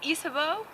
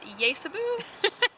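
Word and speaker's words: Ysabeau: witches there's a character named isabo which is I guess the French for Isabelle and I pronounced it cuz I read it yabu cuz there's a why in the name so I always got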